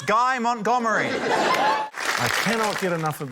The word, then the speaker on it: Guy Montgomery: Up next, his name rhymes with DIY Montgomery. It's Guy Montgomery.